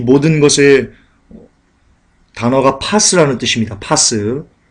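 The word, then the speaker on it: πᾶς: 따라서 세상에는 모든 것, 여러분 이 모든 것 중에서는요, 이 모든 것의 단어가 파스라는 뜻입니다. 파스. 몸에 붙이는 파스가 아니고요. 원문으로 파스라고 발음합니다.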